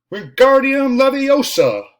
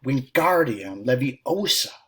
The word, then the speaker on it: Wingardium Leviosa: "Wingardium Leviosa!" he shouted, waving his long arms like a windmill. "You're saying it wrong," Harry heard Hermione snap. "It's Wingardium Leviosa," making the gar nice and long.